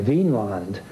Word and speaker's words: Vinland: Now, this has been a controversy in scholarship ever since, because people want to, in modern days, see it as V-I-N with an accent on the I, Vinland, meaning land of wine or land of grapevines.